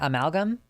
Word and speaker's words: amalgam: By the way, Luxander, you're the only person on stream who pronounced the first word in my username correctly. Yeah, amalgam. Like an amalgamation.